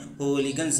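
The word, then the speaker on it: hooligans: बदमाश को इंग्लिश में होलीगन्स बोलते हैं। लिखा जाता है होलीगन्स लेकिन इसका शुद्ध प्रोनाउंसिएशन होता है हूलीगन्स।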